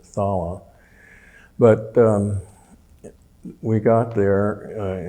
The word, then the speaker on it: Thala: of the cerine pass called phala I guess you pronounce it thala but um we got